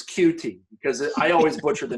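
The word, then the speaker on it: Coutee: but I'm glad you brought it up it's cutie because I always butcher the name but it's cute yes your kids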